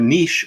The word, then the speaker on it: niche: to do it within your niche or niche depending on how you pronounce it for me that's sports